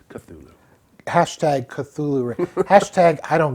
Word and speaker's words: Cthulhu: answer in my opinion hashtag ixtulu racists it's pronounced cthulhu hashtag cthulhu hashtag i